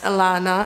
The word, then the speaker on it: Ellana: I have loved it by the way it's pronounced Alana and not so Alana reached out to me